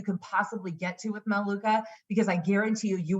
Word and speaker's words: Melaleuca: excited I used to call uh Melaleuca Metallica because I couldn't pronounce Melaleuca um but anyway called